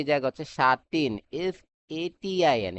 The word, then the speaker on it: sateen: সাটিন আরেকটা হচ্ছে সাটিন মানে একটু টান দিয়ে হচ্ছে প্রোনাউন্সিয়েশন করব কি এফ এটি ডাবলই এন সাতিন এখন দুইটার হচ্ছে কনস্ট্রাকশন